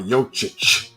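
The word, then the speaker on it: Jokić: the end of it there's no h on it but you have to pronounce the CH so Nikolai yochich okay a little bit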